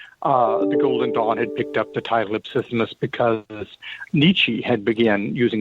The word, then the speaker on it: Ipsissimus: Ipsissimus.